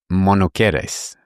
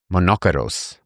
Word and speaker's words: monokeros: Old Greek translation of the Old Testament, as monokeres. Well, actually, let me pronounce it right and see what English word you think people would take from this. Monokeros.